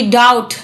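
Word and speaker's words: doubt: देना किसी को वो डी ओ यू बी डी डाउट इसमें भी साइलेंट होता है तो डाउट माने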